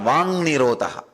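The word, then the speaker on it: वाङ्निरोध: That is what is called Vang Nirodha. Vak Nirodha only, when you pronounce it becomes Vang Nirodha.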